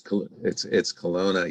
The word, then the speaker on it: Kelowna: I butchered that. I'm so sorry. It's Kelowna, yes.